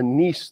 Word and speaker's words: Nice: our previous Theory which was called the nce theory although it's spelled nice it's from France um into the nce